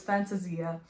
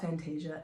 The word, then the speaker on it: Fantasia: Either way, it's supposed to be Italian, so it's Fantasia, but if you call it Fantasia, it's fine. We'll talk a little bit more about the title later on. But Fantasia Invernale was inspired by a classic.